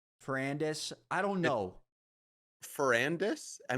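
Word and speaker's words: Ferrandis: I say like Dylan Fernandez Fernandez Fernandez I don't know dude Fernandez is crazy there's no n before the a fernandis I don't know fernandis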